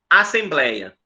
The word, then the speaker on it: assembleia: Tá vendo esse ei? Esse ei é chamado de ditongo aberto. É o mesmo de ideia.